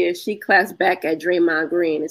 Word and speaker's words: Draymond: not the local Hood draym with a d the D ain't silence you got to pronounce it okay so I was